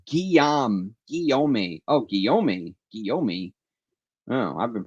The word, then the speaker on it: Guillaume: Pierre Guillaume, pronounced Guillaume. Oh, Guillaume. Oh, I've been pronouncing it wrong all along. So it's not Guillermo, huh?